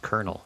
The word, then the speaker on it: colonel: Oh, kunnel. Like, uh, no, Jake. It's pronounced colonel.